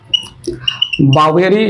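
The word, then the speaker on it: Boveri: बावेरी या बोवेरी जो भी प्रोनाउंसिएट करना चाहे कर सकते हैं।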